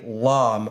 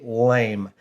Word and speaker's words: lame: And for that, you're going to need either a plain old cheap razor blade or something that's called a lame, or if you're mispronouncing it, a lame.